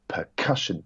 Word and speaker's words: percussion: options so for example the word percussion is its percussion that that middle syllable is emphasized rather than percussion or percussion and we're kind of